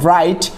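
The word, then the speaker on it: bright: তারপর ব্রাইট, ব্রাইট মানে হচ্ছে উজ্জ্বল, সেখানে হচ্ছে জিএইচ অনুচ্চারিত।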